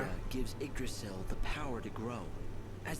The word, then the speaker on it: Yggdrasil: This is Yggdrasil, the Tree of Life. It's Wait, a holy that's how tree. you pronounce it?